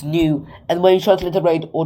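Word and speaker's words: nu: like a V it's not a v it's new and when you translate or translate it or pronounce it it's a it's a n it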